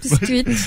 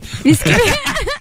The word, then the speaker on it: bisküvi: Bisküvi. Bisküvit oluyor. Ha, doğru. Şey diyen var çok kibar bisküvi. Bisküvi. Üç tane i ile yani bisküvi.